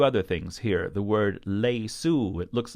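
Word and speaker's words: ليسوا: this word is pronounced lace ooh not lace wha like it looks the Aleph is silent also we have to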